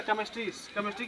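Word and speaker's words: chemistry: ठीक है, अगर CH से शुरू होती है, अगर केमिस्ट्री में अगर हम CH को साइलेंट नहीं करेंगे तो उसको हम क्या पढ़ेंगे? केमिस्ट्री पढ़ेंगे।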